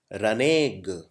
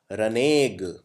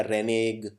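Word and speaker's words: renege: अगला शब्द है रनेग। इसका उच्चारण करना बहुत डिफिकल्ट है। इसको ऐसे बोलते हैं रनेग। अगर कोई पहली बार पढ़ेगा तो इसे ऐसे पढ़ेगा रेनीज, कोई पढ़ेगा रेनेग, लेकिन इसको बोलते हैं रनेग।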